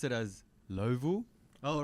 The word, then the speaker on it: Louisville: They pronounce it as Louisville, but we were like Louisville. Yeah. We're like, guys, how do we pronounce it? Is it Louisville? And everyone's like, no. And we're like, oh, okay. How do we pronounce it? Everyone's like, Louisville. So we had to learn, and that was pretty fun. Yeah. That southern accent, Louisville, Louisville. something like that.